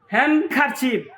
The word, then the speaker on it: handkerchief: handkerchief, D is silent.